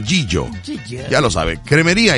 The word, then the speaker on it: Gigio: G-I-G-I-O. Proveedora de Alimentos Gigio. Pero se pronuncia Gillo.